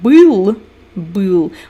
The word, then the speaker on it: был: You confuse that y and e. So we have был, like была курочка. It means the hen was. And бил, it means to beat. They are two different words. And Americans very often pronounce them the same way.